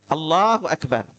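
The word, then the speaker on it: الله أكبر: bersamaan dengan takbir Nah kalau bersamaan dengan Takbir Allahu akbar ini ngangkat tangan bersama dengan Takbir yang kedua takbir dulu baru ngangkat tangan Allahu Akbar Ya itu cara kedua cara ketiga mengangkat tangan dulu baru Takbir Allahu akbar nah tiga tiganya boleh kita variasiin ya tiga-tiganya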